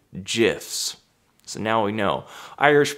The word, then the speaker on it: GIF: died of coven but he pronounced it near the end jiffs so now we know